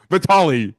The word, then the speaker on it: Vitaly: That's actually exactly how it's pronounced. Vitaly, Taylor. It's called Vitaly. We're just gonna go with Vitaly.